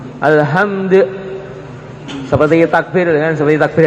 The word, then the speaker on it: Alhamdulillah: Ini dalnya tinggal qalqalahnya saja. Alhamdulillah.